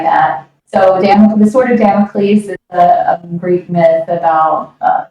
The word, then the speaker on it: Damocles: The song I'm not going to try to pronounce it because I will screw it up, but it's spelled Damocles. Damocles.